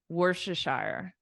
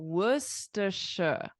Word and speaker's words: Worcestershire: yeah but it's not that's not how you say it what do you say are you ready I'll show you so we say Worcestershire oh Worcestershire Worcestershire so the sauce